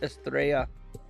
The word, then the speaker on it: Estrella: It's pronounced Estrella, No, there you go.